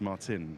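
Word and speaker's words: Marcin: because I think Martin Martin it's sort of pronounced Martin that's why some of the team principals been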